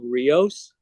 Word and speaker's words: RIOS: I'm also working on some ideas around a regenerative operating system that I call RIOS, which in Spanish spelled R-I-O-S, not R-E-O-S. Is rivers.